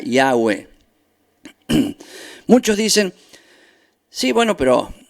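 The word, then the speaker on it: Yahweh: dos que se repiten y h w h que se pronuncia y agua muchos dicen sí bueno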